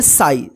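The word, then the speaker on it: sigh: जी एच इसको क्या पढ़ेंगे साई सिग मत पढ़िए ठीक है साई साई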